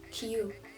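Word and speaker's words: queue: В этом слове произносится только первая буква, потому что остальные буквы стоят в очереди.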